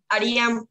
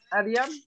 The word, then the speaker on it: Ariam: Ariam. Así como se lee, Ariam.